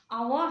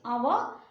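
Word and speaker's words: hour: This small hand is our hand. That is our hand. Our hand, that is H-O-U-R, H is silent.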